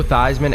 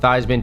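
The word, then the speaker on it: Theismann: Did you know that Joe Thyman actually changed how his last name was pronounced at Notre Dame? He made it rhyme with Heisman to campaign for the trophy.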